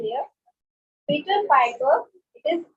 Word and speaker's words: Piper: of pickled papers, where the pack of pickled papers Peter All right. Anybody else who would like to come? Okay, let me revise first what they are exactly trying to spell here. Peter Piper, it is not paper, it is Piper.